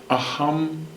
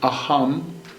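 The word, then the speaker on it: aham: this love the mantra is a hummed prema a hum prema it's spelled a H AM a hum prema peep r.e.m a a hum prema it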